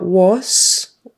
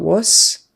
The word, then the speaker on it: was: another uh word and the S on the end is really a z was start with a W lips come together and not was um not don't make that as a hissing s sound it has to be the Z was was um was